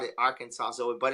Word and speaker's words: Arkansas: at the beginning of Arkansas no I nobody messaged me well somebody messaged me about that but it was funny the S is silent I called it Arkansas so but it's a